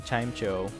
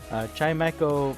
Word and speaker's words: Chimecho: chimecho so i've been i've been saying chimejo chaimaiko makes a lot more sense because echo has something to do with sound and this is a